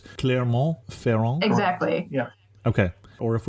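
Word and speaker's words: Clermont-Ferrand: name of the capital because unfortunately we don't pronounce it so it's Claremont feron exactly Yeah okay or if we're spelling it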